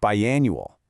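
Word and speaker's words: biannual: Pronounced bi-annual.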